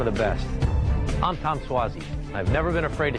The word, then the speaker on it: Suozzi: you know with the pronunciation of his name which i think is something that's been tellin Suzy Swayze but now they know it's tom suozzi I think the fun